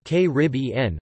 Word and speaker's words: Caribbean: the third syllable, and caribbean, with the stress on the second. Most authorities of the last century preferred the stress on the third syllable.